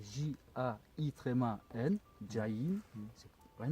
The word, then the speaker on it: Jain: Alors jain, ça s'écrit J-A. Un djinn, est-ce qu'ils appellent djinn? Non, non, Ouais. jin c'est arabe. Non, jain c'est du sanskrit. D'accord. Ça s'écrit J-A-I-N, jain.